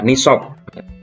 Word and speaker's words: nisab: nisab nishob itu apa nisab kalau di dalam bahasa Arab pengucapannya adalah nishob didalam tulisan Indonesianya adalah Nisa pengertian nisab adalah lama